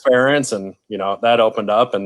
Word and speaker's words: Ferentz: And, Ferenz or whatever. And I couldn't pronounce the name and learned it was Ferentz.